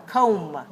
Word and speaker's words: comb: right so don't say come don't say come on say com all right so what letter is silent what letter is silent the b so we don't pronounce the b the last letter we